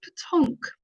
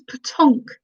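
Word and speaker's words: petanque: question one what is patonk better known as so what is potonk better known as uh so it's spelt p-e-t-a-n-q-u-e so it's french and i've just realized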